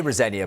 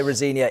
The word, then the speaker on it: Rosenior: I say Rosenia, by the way.